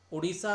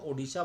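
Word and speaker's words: ओडिशा: रहा हूं यहां पे उड़ीसा तो अब आपको पता है इसका नया नाम जो है वो ओड़ीशा है ठीक है तो जब भी आपने इसका उच्चारण करना है तो ओड़ीशा बोलना है मैंने तो यहां पे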